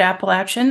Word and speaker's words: Appalachian: lived experience wonderful I always see the word Appalachian and I'm like in my head I say